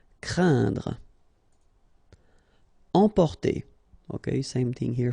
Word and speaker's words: craindre: So it's quite interesting here because you've got this combination of letters, so A, I, and then N, okay, so it will be a nasal as well, and then it will be pronounced like un, so keep in mind that it goes in your nose, so you don't hear any N when I pronounce it, and then C plus R will produce the sound cr, craindre.